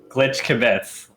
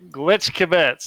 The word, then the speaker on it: Glitch Kibbitz: I'm here live with several people who are collectively Glitch Kibbitz. Am I saying that right? Is the pronunciation on the kib or is it on the bits? Glitch Kibbitz. Glitch Kibbitz.